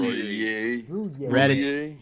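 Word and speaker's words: Roullier: actually plays or not, is the center, Chase Rollier. And Royer. How do you say his name? Roulier.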